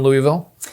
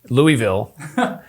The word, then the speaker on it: Louisville: area so you're from louisville from central kentucky so i said it wrong louisville it's louisville correct right louisville is that better okay all right good